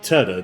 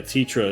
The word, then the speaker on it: Tetra: Now, in the 1997 version of um this game, her name was actually Teda. T a so yeah, Tetra is the more correct pronunciation.